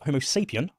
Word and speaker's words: Homo sapiens: the evolution homos saan it's pronounced homo sapian not sapan homos sapan if you're going to run around acting as an authority acting as if you know you know the subject you probably should get the basic pronunciations correct but then with times